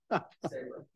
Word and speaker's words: Sabre: Dear Butter notification, Sabre, is it pronounced Sabra? Something else. All right, you're originally from Tiverton. How should we pronounce it? Sabra.